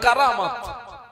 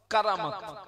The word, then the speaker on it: কারামত: ঘটনাগুলো ঘটে তাকে বলে কারামত আমার দিকে তাকান কি বলে বাবা কারামত যেটা আমরা অনেকে আবার বলে ফেলি কেরামতি কিন্তু ওর মূল উচ্চারণ হচ্ছে কারামত কারামাতে আউলিয়া হাক্কুন অলিদের